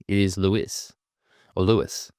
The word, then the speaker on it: Luis: I did learn something about um Vins Vins Lewis is that his his last name is actually Portuguese. So it is not Louis, it is Louis or Louis.